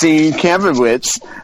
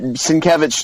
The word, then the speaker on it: Sienkiewicz: So I'm going to say my standout creative team is a singularity, and his name is Bill Sienkiewicz, which is not pronounced Sienkiewicz, but Sienkiewicz, just because everything he's ever done to me